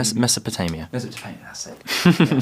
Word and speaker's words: Mesopotamia: Well, how do you pronounce Mesopotamia. Mesopotamia, that's it.